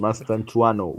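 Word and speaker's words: Mastantuono: It's just Mastantuano.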